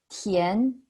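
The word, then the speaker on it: Tián: and final for example my last name is kian and tien and the second tone that's tien remember that the tone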